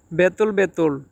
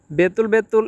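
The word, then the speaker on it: betul betul: বেতুল বেতুল এর বাংলা ভাষা হচ্ছে সত্যি। অনেকে আবার এটাকে বুতুল বুতুল বলে। বুতুল বুতুল মানে সত্যি, কিন্তু এটা শুদ্ধ উচ্চারণ হচ্ছে বেতুল বেতুল।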